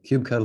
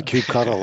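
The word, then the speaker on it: kubectl: cube cuddle Cube yeah Cube cuddle everybody pronounces it differently sorry thank you Cube cuddle for sure it's a cube cuddle okay I decided it is so you know all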